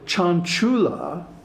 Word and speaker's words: Cañculā: And also Cañculā, with a long A at the end, can mean a teacher.